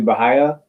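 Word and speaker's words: भैया: it's uh it's it it's pronounced essentially bahaya um and even that is slightly slightly incorrect and i know that this it's it's a a hindi word so bahaya means brother um or older brother most frequently in in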